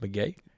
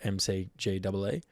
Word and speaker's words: McGee: his first release, 2018, I think it was, is called Pronounced McGee, spelt MCGEE. So I think you're right about that. That's confirmed, everyone. At PTA.listen, it's McGee. And then CZ, a song that takes me back to the Queensland hub.